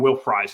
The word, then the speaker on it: Will Fries: And so I think the guy that could potentially shore that up would be Will Fries, or I think Will Fries is the way to pronounce it.